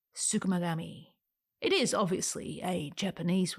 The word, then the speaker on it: tsukumogami: was inspired by me learning a new word sukami that is spelled TS u k u m o g a m i sukami it is obviously a